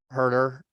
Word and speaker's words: Huerter: Herder. Yeah. Herder. Okay. Don't hurt her. Hammer, don't hurt her. Yeah. Well, I Instead of kept hurt him. thinking that Buddy was going through his head. Herder?